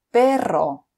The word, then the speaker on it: perro: pronounced as normal, but at the beginning of the word or when it's a double R, you need to roll your tongue. For example, restaurante, guitarra, perro. Otra vez, restaurante, guitarra, perro. So the sound goes rrr.